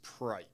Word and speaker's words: Preik: It's Preik. It rhymes with bike, and that's okay.